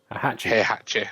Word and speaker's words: Heihachi: Heihachi.